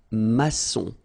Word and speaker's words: maçon: Here you can see that we've got this little cédille beneath the C, okay? And it just means that you will pronounce this C as S, okay? So that's the reason why. It's un maçon.